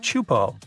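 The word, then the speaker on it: Teahupo'o: It's pronounced chupo, and it means broken skulls in Tahesian.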